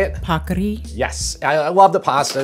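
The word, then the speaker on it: paccheri: Pakri.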